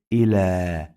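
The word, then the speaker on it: إلى: Here I say ila. We pronounce this ya like long vowel alif, not ya.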